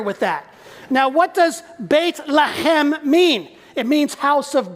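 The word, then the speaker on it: בית לחם: they pronounce it there, if you want to pronounce it in Hebrew, here's how you say it.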